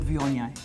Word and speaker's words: Viognier: We have got always had a problem with the word vion until we started spelling it phonetically.